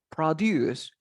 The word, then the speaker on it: produce: Producir en inglés como verbo es produce. Produce. The stress goes at the end of the word.